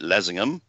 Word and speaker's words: Leasingham: So anybody near in Lincolnshire around that area that want to come, it's in Lessingham. It's spelled Leasingham, but they pronounce it Lessingham.